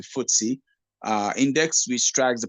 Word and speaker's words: FTSE: F we also have the ftse which is pronounced as the footy uh index which strikes